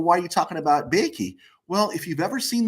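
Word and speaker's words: Boeke: player named jim uh i'm going to pronounce it bakey it's b-o-e-k-e and jim bakey um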